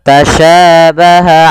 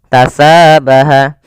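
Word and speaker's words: تَشَابَهَ: jelas Kemudian pada lafal tasyabaha Alaina pada lafal huruf Sya ini jangan kita rubah dengan huruf ta misalnya tasabaha atau dengan huruf Sin misalnya tasabaha ala karena dia nanti merubah sifat dan hurufnya karena di sini pada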